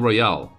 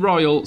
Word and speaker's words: Royal: before you say anything, Battle Royal is not Battle Royale. There's no E in Royal, so I'll always be pronouncing it Royal.